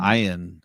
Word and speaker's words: Iain: find it's funny when it's spelled IAIN. Is that not Ian? Is that E-I-N? Ian. Ian. I think it's Ian, but it's like Ian with an extra I they just throw in there.